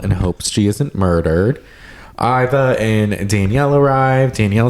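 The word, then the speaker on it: Ivar: But she said that Brittany was on it and said that he pronounces it Iva. I guess that's like the British way to say it.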